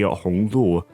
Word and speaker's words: Hong Lu: His name is written down to be Hong Lu, which is pronounced similarly to the characters from Red Chamber, Hong Lo.